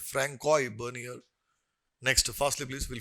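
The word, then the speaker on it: François: Francois, generally S is silent in France. People they speak like that. Francois Bernier.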